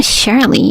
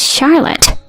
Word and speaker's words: Charlotte: I'm your dad right it's not Charley it's Charlotte I don't have a